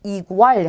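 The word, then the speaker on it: igual: 이로 발음하시면 돼요. 그래서 인터넷 하시면 되고요. 자, 그 다음 단어도 첫 글자에 왔어요. 이구알 하시면 돼요.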